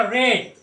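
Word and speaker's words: read: में बीइंग, उसके बाद V3 है रीड का रेड, स्पेलिंग सेम रहेगा, प्रोनाउंसिएशन उसका करेंगे रेड।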